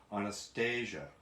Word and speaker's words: Anastasia: some advice for tim my first name is actually pronounced anastasia oh and read the